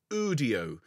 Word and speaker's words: Udio: u n o and audio is UD IO think audio without the a or Studio without the St whichever you prefer now